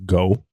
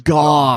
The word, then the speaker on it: Gough: Do you pronounce your last name Go? That would be incorrect. It's pronounced like cough, but with a G's. Gough.